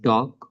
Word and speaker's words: talk: Here in silent L, like in talk, walk, and half, all of these words have silent L.